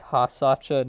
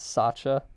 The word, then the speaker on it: Hasacha: Alright, first of all, it's Hasacha, not Sacha.